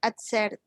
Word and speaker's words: accepted: You know, if I get accepted. Accepted. Accepted. Remember some verbs in Accepted. past tense, Yes, you pronounce the ed.